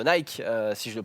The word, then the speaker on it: Nike: Polémique hein, de Nick, enfin de Nike, si je le prononce.